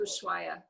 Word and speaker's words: Ushuaia: How do you pronounce it? Ushuaia.